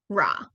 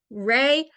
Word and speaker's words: Ra: I just recently learned the pronunciation of that deity changed from the Old Kingdom to the New Kingdom so at one of those points egyptologists think that per announcement was closer to Rey uh and then at the other point they think it was closer to raw and my brain has